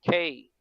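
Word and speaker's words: κακός: And how they pronounce it is Kakos, meaning bad or evil. Kakos.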